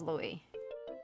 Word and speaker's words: Louis: Louis, the S is silent in French, but in other parts of the world. Okay, so I was pronouncing it correctly, so it is Louis.